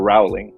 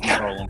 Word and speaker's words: Rowling: First created Harry Potter, or Rowling, however you want to pronounce it. Rowling.